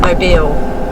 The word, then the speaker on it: Mobile: because the next biggest town along is MO pronounce it mobile aye Beall it looks like noble but my bill and apparently that isn't a very nice place